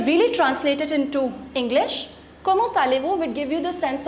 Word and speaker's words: comment allez-vous: Comment allez-vous? Listen to the correct pronunciation.